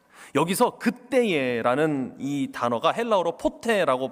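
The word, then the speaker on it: ποτέ: 진노의 자녀이었더니 아멘 여기서 그때에 라는이 단어가 헬라어로 포테라고 발음하는 단어인데 굉장히 묘한 단어입니다.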